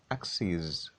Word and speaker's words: axes: is where you say this is how you pronounce axis but in the plural form you say axis c is c is axes axes here you say axis but here axes